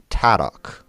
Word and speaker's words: Tadok: TO is red or read, however you would like to pronounce it. But it would normally be Tadok, T-A-D-O-C.